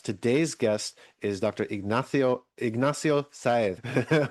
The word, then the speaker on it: Sáez: Ignacio Sáez, which is the Spanish attempt at pronunciation of his name.